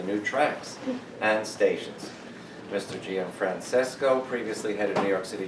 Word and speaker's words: Gianfrancesco: As- So, then we will move on to our speaker, Gianfrancesco. Did I pronounce it right? Yeah, I'm sorry. You got the hard part right.